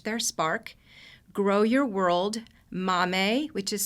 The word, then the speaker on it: MAAME: Each Adolescent Reach Their Spark, Grow Your World, MAME, which is spelled MAAME, and AMI Kids.